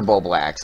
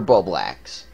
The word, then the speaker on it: Bublax: work and king o Emperor ball blacks I know I was doing the name wrong Emperor ba blacks and fiery video hugs